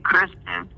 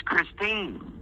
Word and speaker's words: Christine: You didn't even say her name right. You kept saying Kristen, and her name's Christine.